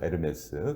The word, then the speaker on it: 에르메스: 에르메스. 그 에르메스가 사실은 H가 묵음이에요.